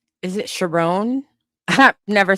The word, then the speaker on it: Sherrone: Sherrone rhymes with Tyrone.